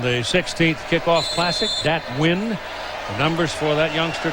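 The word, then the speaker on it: Nguyen: I said, that the way you spell your name in Vietnamese, and you can pronounce it Win. I said, did you just pick a name or pick a pronunciation? He said, no, that's really the pronunciation, the way it's pronounced in Vietnamese.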